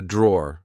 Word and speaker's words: drawer: This is a drawer, like I said. Be careful, because in British English, we don't pronounce the E at the end. We just say draw.